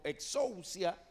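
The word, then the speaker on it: ἐξουσία: es una palabra que en griego se pronuncia como exocia y usted sabe de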